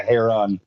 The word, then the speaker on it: heron: great blue heron Heron it's not a herring it's a hair on oh that's how it's